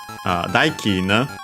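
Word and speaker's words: 代金: But yeah, here actually, daikin, accent on the first mora is a Chinese compound with that accent, the second most common one for those.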